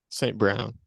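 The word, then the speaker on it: St. Brown: you say his name on Rob St John saint Brown Saint Brown that's what I meant um and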